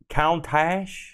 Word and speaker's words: Countach: A Lamborghini Countach. I'm sure people that know about cars are laughing. Rhymes with succotash.